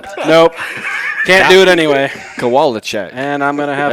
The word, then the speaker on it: Kowalchuk: I've always just said Kalachak. Is that how you say it? It's Kowalchuk. Kowalchuk. No. Kowalchuk.